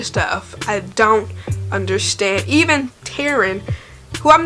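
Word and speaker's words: Tairn: what happened cat tearing I think it's Taryn t-a-i-r-n parents but honey so again technically in the book I'm gonna pay I'm on chapter 21 on page 249.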